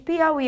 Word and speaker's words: Piauí: vai ser proparoxítona então quando eu pronuncio a palavra Piauí qual é a sílaba mais forte é o e então por isso Piauí é uma palavra oxítona se ela é uma